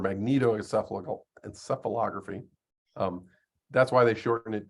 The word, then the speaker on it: magnetoencephalography: This is, as you can see, that long word that's pronounced magnoencephalography or magnetoencephalography.